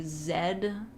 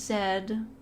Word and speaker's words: Z: How do you say Zed? Listen, I know the proper pronunciation is Zed, but I think Z can also be viable.